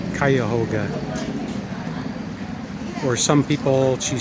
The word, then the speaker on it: Cuyahoga: I spelled it wrong, or pronounced it wrong before, and so it's Cuyahoga. Or some people, she said, call it Cuyahoga.